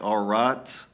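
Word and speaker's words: Ṛta: There's even the Hindu have, it's hard to pronounce, it's spelled RTA. It's something like Arat, sometimes translated as Dharma.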